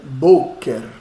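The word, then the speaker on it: בֹּקֶר: próxima buer olha olha a Tonia cidade aonde está bo bo está no BO né boker boker Eh então não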